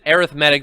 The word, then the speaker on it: arithmetic: Wadi here we are talking about arithmetic arithmetic we actually would pronounce it arithmetic that's how I do it because it's more of an adjective than a noun today arithmetic sequences sequences